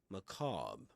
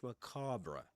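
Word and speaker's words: macabre: Well, that's American American English. Macra in British English. Macab. Macab. I guess that must be the pronunciation. Let me go to a different dictionary. Okay. Macra again. But macab is a macab and macabra. Okay, we can go for both pronunciations pronunciations of that word.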